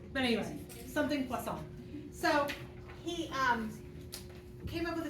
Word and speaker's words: Poisson: called poisson distribution, just in case you really want to know how to say it. Poisson, like that? Poisson, like a fish.